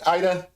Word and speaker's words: Ida: at it hey um Ida sorry I I have learned that I've been mispronouncing your name all this time it's not AA it's Ida and I have I